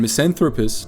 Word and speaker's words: misanthropist: A delinquent and misanthropist [pronounced MISS-anth-rope-ist], the young man had acted as a